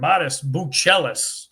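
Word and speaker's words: Matas Buzelis: we're gonna stick uh right in our backyard modest Bellis was told is the proper pronun pronunciation uh modest slow start to the season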